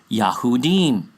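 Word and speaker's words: Yahudim: Well again we know that word is not Jews It's Yahoudin Yah's people The thing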